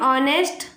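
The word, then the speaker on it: honest: यहां पे भले ही यहां पे हमने एच को यूज़ किया लेकिन एच साइलेंट है और हमें इसको उच्चारण करने पर ओ बोल रहे हैं। इसलिए यहां पर एन लगेगा।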